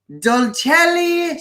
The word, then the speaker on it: Dolcelly: And I have been talking to the amazing Nataly Florez, who owns Dolcelly Sweets. You have to say it like that. You have to put that little Italian twang in it.